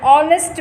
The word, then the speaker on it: honest: For example, an honest man, an honorable man. Here, H is silent.